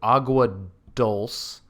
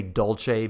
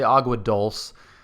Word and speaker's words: Agua Dulce: I keep wanting to say Dolce because that's how you'd say it in Italian, but it's not Italian. So we'll say Agua Dulce.